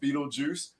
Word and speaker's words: Beetlejuice: I don't even know what it says, So just for everybody knowing it, when you read it, it is pronounced Beetlejuice.